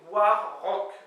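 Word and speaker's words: war-raok: veut dire en avant alors apparemment on peut prononcer a r mais sur Wikipédia au niveau des lettres de prononciation il disait bien que c'était War Rock voilà bon moi warck ça me fait kiffer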